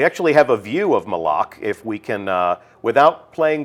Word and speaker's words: Malak: Official pronunciation confirmed. So Malak. if you hear anybody saying Malak, send them right here to the archive of this stream. Our design lead has told us it's Malak.